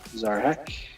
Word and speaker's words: Szarekh: the rightful commander of this deck, which is Zarek the Silent King. Spell it. SZAREKH. Zarek.